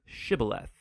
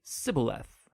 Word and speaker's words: shibboleth: and asked everybody who wanted to cross to pronounce the hebrew word shibboleth it turned out that the ephraimites had grown up pronouncing that word differently so instead of saying shibboleth they would say sybileth when that happened the gili knight guard would